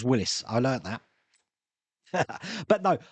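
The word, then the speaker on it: Willys: It's spelt Willis, but it's pronounced Willis.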